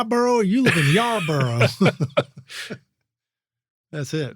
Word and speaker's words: Yarborough: It's like Yar and then Burrough, spelled like Burrough, Borough. Yes. Right? Yeah, I get people DM me through Instagram. You live in my borough or you live in Yarborough?